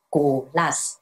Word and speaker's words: Kolas: 大家好，我是 Glass，我的名字正确的念法就是 Glass。